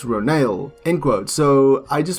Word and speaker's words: Ronal: navi warrior renault pronounced ronale in quote so i just want to say that i've been pronouncing it wrong because they pronounce it they have a pronunciation ro nail so i've been saying ronald so it's ronald so